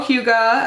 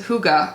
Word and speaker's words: hygge: box limited edition hello Hyuga and as this Hyuga equals happy and says nothing says you time more than the Danish okay it's Danish Danish concept of Hugo pronounced hygge or Anais Oh have